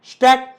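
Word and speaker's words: stuck: lock शॉक block नक स्टक तुमही बघितल का याच्यामध्ये सी च्या नंतर के किंवा सी च्या अगोदर एस येत असेल तर सी सायलेंट असतो संपलं किती इी पद्धतीने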